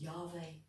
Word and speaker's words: Yahweh: Pronounced Yahweh.